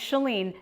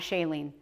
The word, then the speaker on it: Chalene: you say it ok because mine is chalene not Shailene alright we're clear alright